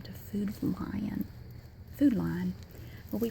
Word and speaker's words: Food Lion: Food Lion. Well, we pronounce it, I know it's lion. I know it's pronounced Lion, but we say Lion, sort of like L I N E or L A H N.